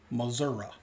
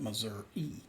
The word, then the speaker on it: Missouri: Missouri. That's how they say it. The rest of the country calls that Missouri.